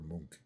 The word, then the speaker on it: Munch: So Edward Munch and Munchkin, although the painter's last name is pronounced like Monk or Munch.